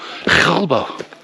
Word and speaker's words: Gilbo: And two, it's not called Pico Gilbo, it's actually called Gilbo. Gilbo. You really pronounce the bow.